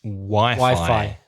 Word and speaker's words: Wi-Fi: Be careful. In English, it's Wi-Fi. A Wi-Fi connection. You connect your mobile device to the Wi-Fi. What's it short for? Wireless Fidelity. Wireless Fidelity. I didn't know that. Wi-Fi.